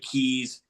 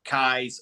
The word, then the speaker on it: Keyes: all thing Kai's Peak apparently I was saying the name wrong this entire time and I'll I'll own that one but my defense Midwestern or slang you look at it it looks like Keys Kai's okay fine whatever it's a